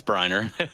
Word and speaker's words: Briner: And, I've said it wrong before in announcing, is it Brenner or Briner? It's Briner.